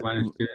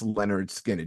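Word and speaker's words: Lynyrd Skynyrd: Name is Pronounced Leonard Skinner. pronounced Leonard Skinner.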